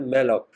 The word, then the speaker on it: malloc: इसको प्रोनाउंस किया जाता है मेलॉक।